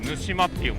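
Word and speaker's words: 沼島: Viết là đảo đầm lầy, nhưng đọc là Nushima.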